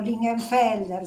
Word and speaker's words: Lingenfelder: apellido es fácil lingenfelder se escribe y pronuncia igual facilísimo ese apellido Le